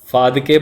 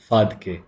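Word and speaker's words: Phadke: बोलिए उत्तर प्रदेश वाली, इट्स फादके, ठीक है। गर्ल्स विल अंडरस्टैंड प से, बॉयज़ विल अंडरस्टैंड फ से। Anyway none of them are correct pronunciations.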